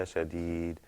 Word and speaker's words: لَشَدِيدٌ: But when you pronounce that dal in the end, you're going to hear a kind of bouncing sound. I know that sounds kind of strange, but if you listen to it and you hear that sound, when I pronounce it, you'll see that it is kind of like a bouncing sound.